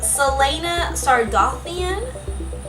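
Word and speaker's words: Celaena Sardothien: me a minute um Selena sardian I believe that's how you say it I am using the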